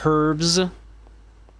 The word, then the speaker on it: herbs: herbs or herbs. Well, I'm I'm American, so I I don't pronounce the H in that.